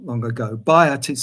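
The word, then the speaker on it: Byatt: recently A A Modern English writer called as bot she died not long ago bot is spelled b y a t t bot as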